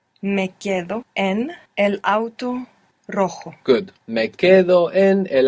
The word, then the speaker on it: rojo: This is spelled R-O-J-O. And J's in Spanish are pronounced J, like this. Rojo. Rojo. And we have the initial R. So if you can do it, it will be the rolling R.